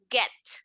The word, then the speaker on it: get: This is what we call a soft G. A esta G le decimos, haz de cuenta, una G suavecita. Entonces, en lugar de pronunciarla fuerte como G, la voy a pronunciar como G, la suavecita. Entonces, en lugar de het, voy a decir get.